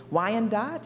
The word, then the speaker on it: Wyandotte: Lenape people, the Miami people, the Ottawa people, Wyandotte, is that the proper pronunciation?